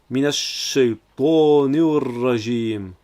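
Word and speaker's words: من الشيطان الرجيم: Car c'est une autre règle de grammaire arabe, le alif lam qui s'efface au profit de la lettre ra, car c'est une lettre solaire, tout comme le shin juste avant. Donc on prononce minash shaytanir rajim.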